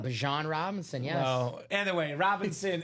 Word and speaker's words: Bijan: Yeah, So he wants it to be pronounced Bajan, not Bijan. Bajan Robinson, yes.